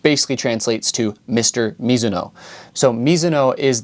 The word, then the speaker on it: Mizuno: So Mizuno is the Japanese pronunciation. I am half Japanese. I grew up in Japan. That's how I grew up saying it. Now, if you pronounce it Mizuno, you're not technically incorrect, as that is the Americanized name of the brand.